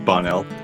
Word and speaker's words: Bonnell: Please correct me if I'm mispronouncing that. Bonnell? Bonnell? It's Bonnell.